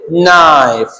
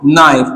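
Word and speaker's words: knife: यहां पर हम बोलेंगे नाइफ क्या पढ़ेंगे इसको नाइफ तो के का साउंड है ही नहीं दोस्तों यहां पर देखिए नाइफ नॉट नोब नोब तो के का साउंड नहीं आ रहा है जब के को एन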